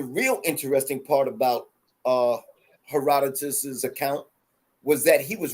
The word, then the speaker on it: Herodotus: Some people pronounce it Her- Herodotus, heredity. right? Some people say Yeah. Herodotus, but basically it's Herodotus, and he wrote an